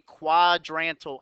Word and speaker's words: quadrantal: something qualité called a quadrantal angle that's how you pronounce that word simple word pronounced even though it looks confusing when you look at it